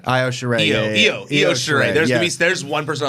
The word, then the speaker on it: Io Shirai: How do you pronounce that? Io Shirai. Io Shirai.